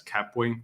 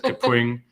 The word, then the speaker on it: Kapwing: But Kapwing is a very good tool, and you might also say it as Kapwing. That's how I used to say it, but they're Canadian, and I met with someone and they said Kapwing, and I had been saying it wrong my entire life.